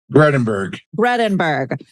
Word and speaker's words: Gredinberg: Gredinberg or Gredinberg? How do I pronounce it? Gredinberg.